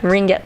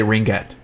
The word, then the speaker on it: ringette: A ringette. Ringette tournament. You say ringette, and you pronounce the G. Is that the right way to say it?